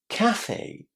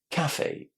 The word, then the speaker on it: cafe: In British English, we put the stress in this word on the first syllable, cafe.